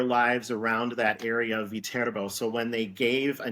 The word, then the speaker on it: Viterbo: Yeah, actually, it's the name of the university is pronounced Ah, Viterbo. It Viterbo. originates from a small city in Italy There is a city named Viterbo, Okay.